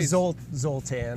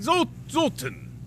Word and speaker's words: Zoltan: Do you say Zoltan? You say tan, I say ton. Tomato. I mean, it's an A. It's a hard A.